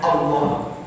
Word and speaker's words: Allah: Alif lam ketemu ilah, kalau digabungkan terus dari perubahannya, perubahan di sorot itu perubahan i'lal ibdal, itu nanti al ketemu ilah dibacanya Allah.